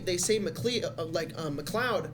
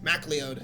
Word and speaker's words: MacLeod: They say McLeod, but apparently he's like, no, it's MacLeod.